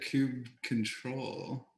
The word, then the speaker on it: kubectl: I feel like I've always said kube control.